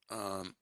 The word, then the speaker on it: нормально: That's a 3-syllable word, right? Нормально. See if you can tell which syllable in that word is stressed. Is the first syllable, the second, or the third? Нормально. Нормально. It's the second one, right? So that would be the So basically mal. Нормально. This is where the stress is.